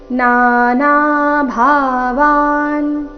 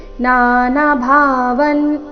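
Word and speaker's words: नाना भावान्: ಯಜ್ಞಾನನ್ ಅಥವಾ ಯಜ್ಞಾನನ್ ನಾನಾ ಭಾವಾನ್ ಇಲ್ಲಿ ನಾನಾ ಭಾವನ್ ಈ ರೀತಿ ಮಾಡಬಾರದು ನಾನಾ ಭಾವಾನ್ ಮೊದಲ ನಾಲ್ಕು ಅಕ್ಷರಗಳು ದೀರ್ಘ ನಾನಾ ಭಾವಾನ್ ಪೃಥ್ವಿ ವಿಧಾನ್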